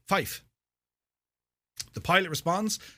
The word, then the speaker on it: five: score in this case it's five which sounds as Fife the pilot responds saying